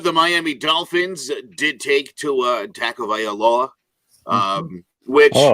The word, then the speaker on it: Tua Tagovailoa: At number 5, the Miami Dolphins did take Tua Tagovailoa, which – oh, nice.